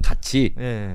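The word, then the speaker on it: 같이: 상상력 갑치는 상상력이 이제 발동했다고 아 상상 상상력 가치 아 그니까 국개음하거든요. 가치를 가치로 이렇게 구일을 구지로 발음하는 것은 국개음의화 현상인데 국음화가 현상이 잘 안 되는 거 같습니다.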